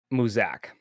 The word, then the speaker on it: Muzak: hitting me right right Theodore and Muzak I said that pronounced right yeah music okay all right Theodore